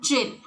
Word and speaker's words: Djinn: are the balance if though it starts with D D is silent we should say Jim so the Djinn magical